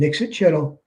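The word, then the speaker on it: Ixitxachitl: Sogwin is the Hogwin, and Ixtchitl, only 4 syllables.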